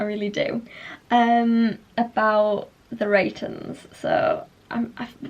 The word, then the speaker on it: The Reytons: like well spoken and it doesn't sound right cuz it's Rens like Rens anyway the Rens um